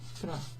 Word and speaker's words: proteggi: to form, ti proteggi, the G and an I in Italian makes a soft sound, G, okay, instead of gi. If you wanted it to be a hard G sound and have the I sound after it, gi, it would have to be G-H-I.